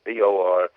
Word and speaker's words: Borchert: You pronounce it like an orchard with a B in front of it, but it's Borchert.